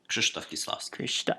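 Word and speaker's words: Krzysztof Kieślowski: Krzysztof Kieslowski.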